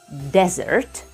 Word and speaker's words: desert: a noun can be desert the stress goes on the first syllable a place with sands